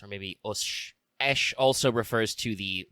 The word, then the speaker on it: Aesc: Esh is Old English for ash tree. That's why you pronounce it basically ash, but with a little bit of extra eh in the vowel, A-E.